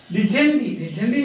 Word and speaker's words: dicendi: Dicendi means dictate, speak. We say dictate, no, it comes from that. Dicendi. So in Latin, all the letters are pronounced. That's why we say dicendi.